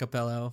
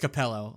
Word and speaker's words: Capello: yes that's the pronounce a Capello that's perfect no no it's just just Capello not acapello uh just a shredded